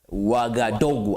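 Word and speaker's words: Ouagadougou: of Buki Nafaso is Wagaogu. Wagadogu I believe I have the best pronunciation when it comes to that uh capital city.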